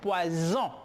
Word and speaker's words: poison: Pero la S en dos vocales se pronuncia como una Z. Aquí yo tengo poison, que significa veneno.